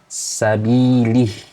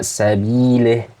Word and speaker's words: sabilih: Kemudian tidak sempurna dalam mengucapkan kasroh, sabilih, sabilih dibaca sabileh.